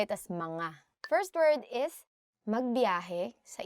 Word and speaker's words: mga: Don't say it as mga. Say it as mga.